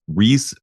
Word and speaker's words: Riise: I know his last name is Riise, but it's spelled R-I-I-S.